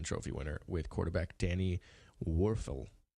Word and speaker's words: Wuerffel: coach a Heisman Trophy winner with quarterback Danny Wuerffel warfel I know how to say his name he